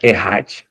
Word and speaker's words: Echad: O Echad, aí, se a gente fosse ler dessa maneira, significa, mas a pronúncia está aqui Errad, tá?